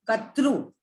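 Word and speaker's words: कर्तृ: Kartru. Katru. It's not Ru, it's R. It's not Ru, it's not Re, it's R. Because some of the Hindi people will say Re.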